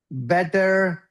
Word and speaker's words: better: So bitter versus better. Can you say that? Can you say bitter? Bitter. Perfect. And this one? Better. You're saying it right. You're saying it right. I'm saying it right. There's no problem Bitter there. and better.